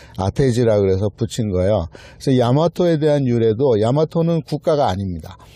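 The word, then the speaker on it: 大和: 야마토로 읽을 수가 없어요 화라고 썼는데 한자로 그거를 야마토로 읽을 방법이 없어요 그런데 야마토 아고 읽어요 그 얘기는 야마토가 먼저 있었고 한자는 나중에 아테지 그래서 붙인 거예요 그래서 야마토에 대한 유래도 야마토는 국가가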